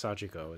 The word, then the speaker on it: Sachiko: I keep always saying Sachiko. It's Sachiko is how they say it.